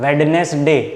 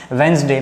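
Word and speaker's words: Wednesday: में क्या कहते हैं वेडनेसडे नहीं वेडनेसडे नहीं बोला जाता उसकी प्रोनोंसीएशन क्या है वेनसडे ने यहां पर लिखता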